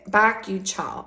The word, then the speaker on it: bakuchiol: And it's got bakuchiol.